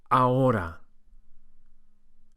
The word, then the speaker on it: ahora: The word now in Spanish is ahora. Ahora. As H's are not pronounced in Spanish, we go straight from the A to the O.